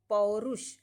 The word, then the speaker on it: पौरुष: पौरुष, कुछ लोग मूर्धन्य श को ख उच्चारण भी करते हैं, इसीलिए ये डी वाले में पौरुख दे दिया है।